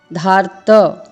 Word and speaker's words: धार्त: लेकिन यहाँ पर जो र का उच्चारण है धा के बाद करना है, धार, धार्त।